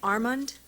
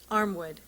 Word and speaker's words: Armwood: Next, and I apologize if I get your name wrong, Armand? Did I say that right? Armwood.